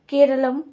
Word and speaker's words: केरलम: केंद्रीय मंत्रिमंडल ने संवैधानिक प्रक्रिया के तहत केरल का नाम बदलकर उसके मूल मलयालम उच्चारण केरलम करने की मंजूरी दे दी है।